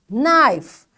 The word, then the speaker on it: knife: when k is silent k is silent when n follows it like after k if you find n you will not say k k will be silent